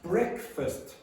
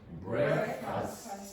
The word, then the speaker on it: breakfast: Breakfast. Breakfast. It's not breakfast. It's breakfast. Breakfast. Not breakfast. If you say breakfast, you're creating this sound here, equal in strength to that syllable here.